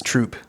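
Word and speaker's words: Troup: what's the Tyler there it's spelled like soup but it's troop okay it's just like just woods and like one L post office like Tyler and then there's white house and then there's troop so I was out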